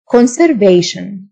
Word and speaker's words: conservation: حفاظ أو وقاية conservation T-I-O-N تنطق شن conservation واقي أو محافظ conservative